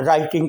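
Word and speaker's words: write: लिखा जा चुका, और राइटिंग का मतलब है काम जारी है या जारी था, यानी लिख रहा है या लिख रहा था। राइट में W साइलेंट है।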